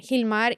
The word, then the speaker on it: Gilmar: can find me at Hilmar everywhere he's more photography and Hilmar is spelled with a G but is pronounced with an h and that's that's about